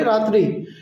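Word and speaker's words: राति: রাত্রিকে আমরা নেপালিতে বলব রাতি। একটু প্রোনাউন্সিয়েশনটা আলাদা হবে। সিমিলার থাকে কিন্তু ভালোভাবে শুনবেন তো আপনারা বুঝতে পারবেন ঠিক আছে নাইটকে বলব আমরা রাত্রি রাত্রি যখন আমরা বাংলায় বলি তাহলে সে ক্ষেত্রে নেপালিতে হবে রাতি রাতি রাতি রাত্রিকে আমরা নেপালিতে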